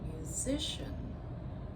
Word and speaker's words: musician: If I say musician, musician, I've shifted that stress. So I went from music stress on the first syllable to musician stress on the second syllable.